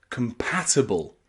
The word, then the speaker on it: compatible: counil and compatible compatible that ible at the end there with the letter i is not pronounced IB it's pronounced a compatible compatible because that letter I is not stressed here so compatible and counsel in fact